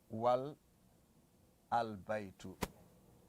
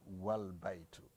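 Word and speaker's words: والبيت: Okay, if you have wow here, you can't say wal al baitu. You just say wal baitu. That's what he's trying to say. You can't say wal baitu, wal al baitu.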